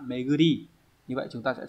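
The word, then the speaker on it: 巡り: Đây là chữ tuần đúng không? Đọc là meguri.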